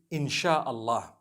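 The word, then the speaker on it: Insya Allah: language they write in Sia Allah the s-y-a they pronounce it they pronounce the Sy the way we pronounce sh so they can write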